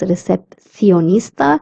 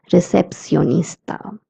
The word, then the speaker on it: recepcionista: The sound of CI is C, as I had told you, or C. So a person from Spain would pronounce this word as recepcionista, and a person from Latin America would pronounce it as recepcionista.